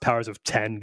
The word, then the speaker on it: Powers of X: I think it's pronounced powers of 10 the x is supposed to be the Roman numeral so House of X